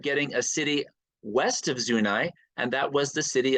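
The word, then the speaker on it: Zuni: was our western boundary and yes it is pronounced zunai locally and it went up there to 38th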